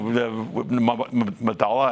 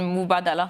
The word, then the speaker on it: Mubadala: when you when you have some you know madala I don't sorry I should know how to